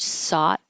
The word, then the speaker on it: sought: And this word sought is a lot of extra letters, but it's just a sought.